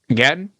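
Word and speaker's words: Gaten: Gatton.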